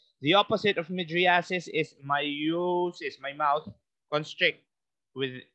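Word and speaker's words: miosis: mouth dilates AIS the opposite of massis is myosis my mouth constrict with its pronunciation myosis so that's pupal construction if it's for meosis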